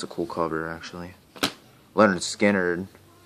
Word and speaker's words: Lynyrd Skynyrd: in the USA it's a cool cover actually Leonard Skynyrd pronounced Lynyrd Skynyrd this is the self-titled I think